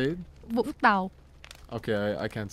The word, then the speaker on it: Vũng Tàu: It's called Vũng Tàu. It's a coastal. Is that how you say it? Vũng Tàu.